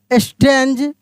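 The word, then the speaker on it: strange: the ground he सॉ ही सॉ अ स्ट्रेंज जी को ज के रूप में पढ़ेंगे जी के बाद इ है ठीक ना स्ट्रेंज नॉट के एन ओ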